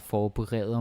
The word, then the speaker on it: forberede: And the pronunciation is also important because some learners, they see it and then they say forberede or something. And that is because it's easy to confuse forbedre and forberede.